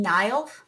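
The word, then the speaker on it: Niall: well as Zan and Nile is how you say his name Nile pairing as well at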